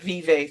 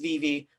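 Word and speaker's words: Vevay: vivi um we are sorry to everyone jay pronounces it vive throughout every interview that we did i love jay we have let him know that it's pronounced vv we know it's vb but it did i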